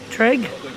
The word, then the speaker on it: Trg: You can't pronounce it without vowels, right? No vowels. How would you read TRG? Trig.